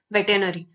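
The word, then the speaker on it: veterinary: वेटेनरी, सो हम इसको pronounce तो करते हैं वेटनरी, लेकिन इसमें एक आर साइलेंट होता है, तो ये यहाँ पे फंस जाते हैं।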